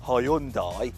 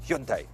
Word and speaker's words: Hyundai: Now, did you know that while us Brits say Hyundai, the correct Korean pronunciation is Hyundai?